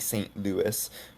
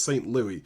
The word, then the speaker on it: St. Louis: Then people keep criticizing me in videos for pronouncing this St. Louis, but it's a French dot and Louis is the French version of the name, right?